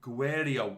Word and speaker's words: Guerreiro: are on a budget and finally Theo says ghwarri o is how your parameters name gue so do you or don't know yet you pronounce the e spell it for me you